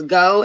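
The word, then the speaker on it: geaux: geox but it is go and that is a um it derives creo french anytime you put the e a u x anywhere together it makes the sound o so dax to go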